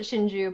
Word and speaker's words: Shinju: Well, I mean, you pronounce it Shinju, but it can be spelled Sinju.